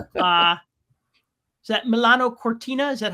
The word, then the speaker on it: Milano Cortina: Uh, is that Milano Cortina?